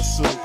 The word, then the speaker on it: Sup: Man, it's the S-U-P, pronounce that soup.